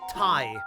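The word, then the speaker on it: 大: left above his door is the kanji for great uh or or like enormous uh and then that that one is pronounced Tai but I'm not sure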